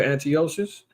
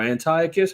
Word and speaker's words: Antiochus: Remember Antiochus or Antiochus, however you prefer to pronounce his name?